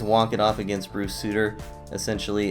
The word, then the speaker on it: Sutter: be punny with this does not know that Bruce suiters name is pronounced Souter because this should read Souter dominance but regardless this one is walk it off against Bruce Souter essentially it's bottom nine